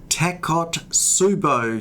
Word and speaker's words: Takotsubo: discuss a condition called tacot subo syndrome now that's a heck of a mouthful it's spelled t a k o taco t subo t Su u b o it's a Japanese word and I'll tell you